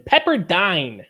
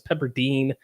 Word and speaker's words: Pepperdine: I pronounce it correctly that's right I mispronounced them as peppardine uh especially when I watch these late game college basketball I have it on mute so I never know how to pronounce some of these schools so noted it is Pepperdine Skippy Byron's fortnite battle